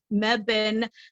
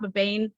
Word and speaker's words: Mebane: of course this weekend I'll be in uh Mebane North Carolina it's not babain I've I was mispronouncing it for like a month that's all